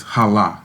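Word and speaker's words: חָלָה: Chala. It basically is hala, and you can spell it CHALH.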